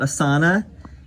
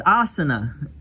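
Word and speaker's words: आसन: It's not asana, it's asana.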